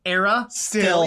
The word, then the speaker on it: Aristil: And Chet goes, Era still. Yeah. They got it.